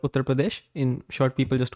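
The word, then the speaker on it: Uttar Pradesh: pronounce it again uh we call it utar Pradesh it's Pradesh but generally we call it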